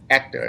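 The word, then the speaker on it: Héctor: Yeah, but you don't pronounce the H. Is the proper way to do it is Hector is his name, and he's great.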